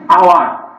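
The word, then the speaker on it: hour: হয়ে এইসে উচ্চারণ অনুচ্চারিত হয়, মানে ও থেকে উচ্চারণটা যায়। তাহলে অনেস্ট, এখানে হনেস্ট না, অনেস্ট, ওই জন্য এখানে অ্যান হবে, ব্যতিক্রম। আওয়ার, তারপরে এয়ার ইত্যাদি।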